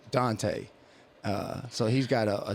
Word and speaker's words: Dante: I named him Maven Dante Archer, not Deontay, Dante.